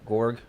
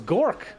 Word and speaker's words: Gork: They have our Viper player, Gorg. I don't know how to say his name. Oh, it's Gork. Okay, I didn't even realize that.